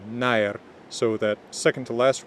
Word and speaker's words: nær: in the word nær, but now in Modern Icelandic it's pronounced I, so nær, so that second to